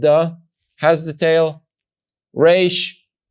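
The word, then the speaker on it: ר: Resh, not having the tail, pronounces the sound ra or ra.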